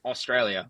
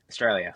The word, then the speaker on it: Straya: That's how that's how we pronounce it. We don't go Australia. Yeah. We go Straya. Straya. Okay. Just just run straight off.